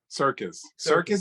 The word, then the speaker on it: Serkis: Circus, as in like the Barnum and Bailey Circus. Well, it's not spelled that way, but I know, but it's pronounced that way, Circus.